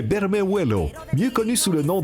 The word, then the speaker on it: Bermejuelo: Beau petit poisson, on l'appelle ici Ben Bemuelo. Je le prononce probablement très mal. Difficile à prononcer, Martin? C'est Bermejuelo, mieux connu sous le nom de lane snapper, un poisson de la grande famille des Lucianidae.